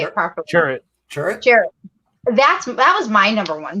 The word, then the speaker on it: Chirrut: Chirrut.